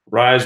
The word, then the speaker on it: Rise: Rise rhymes with lies.